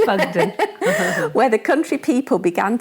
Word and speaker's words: Buckden: at Bugden, or well, how did you pronounce it? I said Buggydeen, but it is Bugden.